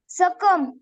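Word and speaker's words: succumb: एस U double C यू बी एम बी सकम आत्महत्या टी एच यू एम बी thumb अंगठा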